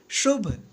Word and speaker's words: शुभ: देखिए शुभ कैसे लिखेंगे, यहाँ पे देखिए शुभ, तो तालब श का उच्चारण हो रहा है, तालब्य श, और यहाँ पे छोटी ऊ की मात्रा, ये बन गया शु,